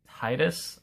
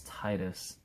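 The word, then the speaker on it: Tidus: favorite final fantasy game titus i think that's how you say his name people say titus but i think it's titus uh one he's a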